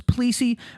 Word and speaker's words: Plessy: was a case called plessy versus ferguson sometimes pronounced as policy versus ferguson uh the where the